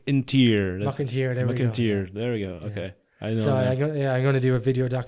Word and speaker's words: Mac an t-Saoir: maybe much schmuck in tears I hear they McAteer there we go okay yeah I'm gonna do